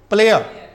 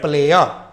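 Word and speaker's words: player: क्योंकि मैंने बताया था कि अगर कोई वर्ड के अंत में अगर आर आया हो और उस आर के पहले ई हो या आर के बाद ई हो तो आर का उच्चारण क्या होता है अ अ होता है तो इसको क्या पढ़ेंगे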